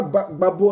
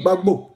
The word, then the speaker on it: Gbagbo: On dit pas Gbagbo, on dit Gbagbo. On dit Gbagbo.